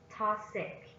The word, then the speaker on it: toxic: Toxic. Toxic. Toxic is an adjective, is stressed on the first syllable.